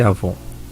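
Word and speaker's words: עוון: Mas a pronúncia e a forma transliterada escreve-se com W, mas lê-se Avon.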